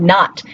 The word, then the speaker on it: knot: So think about the word not. Why do we have a K in there when we don't give the K sound?